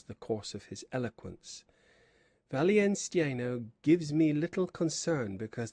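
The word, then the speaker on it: Wallenstein: they call him, and whether his right name is German, again interrupted the Podesta, is Valian Steno, as I have often heard it pronounced by our Spanish senor, the governor of the castle.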